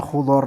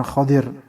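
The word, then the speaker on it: خضر: warudhati Al khadra jadi ini bacanya khudar dengan damah untuk Kha dan fathah untuk Dod Jadi bukan Khadir kalau Khadir ya berarti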